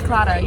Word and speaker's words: Claddagh: These are Claddagh rings, I was told today. So, we've been pronouncing that wrong. It's Claddagh, yeah.